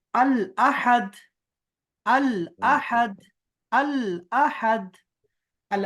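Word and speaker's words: الأحد: ये तो देखो हाँ अल आहद नहीं है ना, आहद तो नहीं है, इसलिए अहद, संजू।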